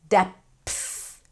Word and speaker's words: depth: Depth. PTH. Depth, not depth. Okay, get to that TH.